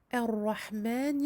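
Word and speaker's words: الرحمن: pas de difficulté supplémentaire, à part le fait qu'il faille évidemment prononcer ce alif du début, car nous commençons la lecture avec cette hamzatul wasl, elle ne sert plus de liaison.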